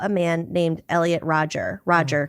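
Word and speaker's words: Rodger: Roger, not Rogers.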